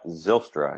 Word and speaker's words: Zylstra: You say it's Zylstra? Is that how it's pronounced? Yeah, Zylstra, yep.